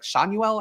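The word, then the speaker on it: Schanuel: who last name is it's pronounced differently it's like shuel I believe but anyway a guy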